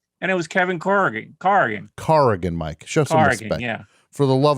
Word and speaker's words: Corrigan: were correcting my pronunciation how many times i got to tell you it's car again mike carrigan i'll never say it